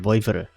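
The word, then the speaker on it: Vouivre: what believer okay so the E is silent voiva apparently it's a French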